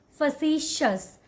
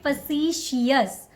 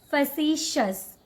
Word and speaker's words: facetious: So the correct way to say this word is facetious. Shus. Don't call it facetious. Okay? So the correct way to say this word is facetious. Shus. Facetious.